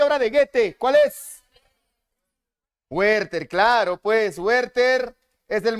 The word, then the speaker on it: Werther: Es Werther, o Werther, como debería ser en su pronunciación.